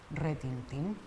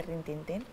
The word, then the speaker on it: retintín: con muy bien venga rintintín o retintín retintín esto no repentino tu sabes la cantidad de gente que dice rintintín y era de una